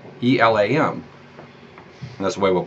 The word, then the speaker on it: Elam: little bit more tenuous is the name of Elam ela M that's the way we'll pronounce it today anyway mostly I'm sure is